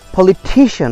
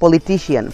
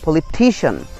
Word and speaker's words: politician: So just to wrap up, repeat after me once again more, I mean once more, পলিটিশিয়ান, নট পলিটিশিয়ান, পলিটিশিয়ান, ফিজিশিয়ান, magician, টেকনিশিয়ান, mathematician, and last one ইজ পেডিয়াট্রিশিয়ান.